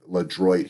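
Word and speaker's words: LeDroit: You'd walk down past Le Droit Park, Le Droit here it's pronounced.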